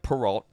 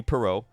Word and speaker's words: Perrault: that's per oh okay I know it looks like parole it's actually perot i looked up the